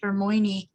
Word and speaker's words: Hermione: use that name then when i read the books i said and then my my kids corrected it and said it's hermoine hey you've never seen